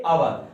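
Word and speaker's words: hour: H silent होता है इसका, एच साइलेंट होता है तो इसको अवर पढ़ते हैं। क्या पढ़ते हैं? अवर।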